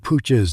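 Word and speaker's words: Puig: titled born again mr pooch's name is spelled p-u-i-g although it's pronounced pooch in the catalan manner you're listening to wpkn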